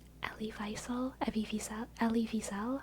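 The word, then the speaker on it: Wiesel: name Ellie visel Evel Ellie Vel I think that's actually the correct pronun of pronunciation of his name Ellie Vel which in school I learned as Eli visil but I'm pretty sure it's supposed to be Ellie Vel German or maybe he's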